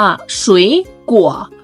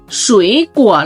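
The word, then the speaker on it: 水果: 2 3 คำ นี้ เรา ต้อง อ่าน ว่า ฉุย กั่ว ฉุย กั่ว เรา ต้อง ผัน เสียง เป็น 2 3 นะ คะ อ่าน ว่า ฉุย กั่ว แปล ว่า ผลไม้ คราว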